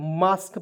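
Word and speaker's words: mosque: कू यू ई तो मास्क पढ़ेंगे क्योंकि क्यू यू ई का उच्चारण हो जाएगा क के रूप में एम ओ एस मास्क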